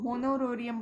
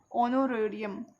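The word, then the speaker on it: honorarium: इसको होनोरेरियम बट इसको प्रोनाउंस करते हैं ऑनोरेरियम, ओके, ऑनोरेरियम प्रोनाउंस करते हैं, एच साइलेंट हो जाता है, ऑनोरेरियम, ठीक है।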